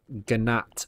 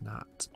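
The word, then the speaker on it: gnat: bow we need some ganat fuzz yes i know it's pronounced nat all right sweet so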